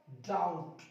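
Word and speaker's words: doubt: और देखिए टी से पहले, ये रहा आपका टी, इससे पहले आया बी, कर दो चुप, लगा दो ताला। डाउट, क्या पढ़ेंगे, डाउट।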